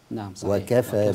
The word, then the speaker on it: وكفى: لكن هي وكف لكن هنا النطق الصحيح ان ان نفصل الواو عن كفى وكفى بالله وليا وكفى بالله